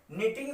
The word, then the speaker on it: knitting: देखिए बच्चों, निटिंग में के साइलेंट रहेगा, KNITT आएगा इसमें। ये निटिंग लिखा है KNITTING।